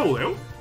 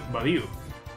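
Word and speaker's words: Budew: ¿Se pronuncia Mudeo? A ver, voy a mirar la Wikidex. Badiu. No me jodas, se pronuncia Badiu. Se pronuncia Badiu. Estoy flipando. Estoy flipando, nunca lo he pronunciado bien.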